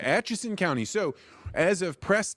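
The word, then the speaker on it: Atchison: And you're in is it Achenson County? How do you pronounce it? Ason County. Yeah. All right. Aches County.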